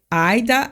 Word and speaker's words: Ida: eu ler é o a pronúncia do nome dela é Aida mas o rolfing é